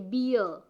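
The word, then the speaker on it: bear: जैसे टू की मैं बात कर रही हूँ, सिलेबल्स, जिस वर्ड में टू सिलेबल्स होते हैं, जैसे कि बियर, आर की साउंड नहीं आ रही है, साइलेंट हो गया है, ऐसे ही ट्रांसक्रिप्ट कर देंगे तो बियर में आर गायब हो जाएगा, जैसे हम बोलते हैं।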